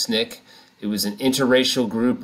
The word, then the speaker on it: SNCC: student nonviolent coordinating committee referred to by the acronym snick sncc pronounced snick it was an interracial